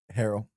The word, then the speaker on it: Harrell: So, how do you pronounce your last name? Harrell.